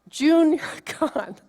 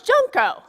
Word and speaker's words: junco: is and he said you pronounce it Jun God junco oh no it's junco and it was Junko and I got that